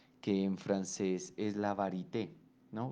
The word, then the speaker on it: varité: en francés es la varité, ¿no? Varité, pues con una pronunciación en español, pero el neologismo que podría traducirse al castellano es la variedad.